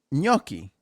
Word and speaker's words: gnocchi: yucky okay it's italian you say it it's gnocchi yeah that's right you're saying which should i